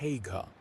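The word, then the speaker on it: Haigha: His name is Hagga. He pronounced it so as to rhyme with mayor.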